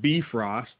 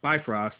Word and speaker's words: Bifrost: first let's talk about that some pronounce it be frost some pronounce it bifrost or bifrost really quick uh and I'm going with bifrost